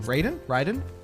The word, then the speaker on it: Raiden: Raiden, thank you. It's giving so much Raiden. Raiden? It would be Raiden if I was pronouncing it Japanese. Raiden. Said Raiden, yeah. I was pronouncing it like a gringo.